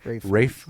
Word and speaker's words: Ralph: It's not pronounced Ralph. Isn't that funny? I was always like Ralph Fiennes or something. Rafe Fiennes is his name.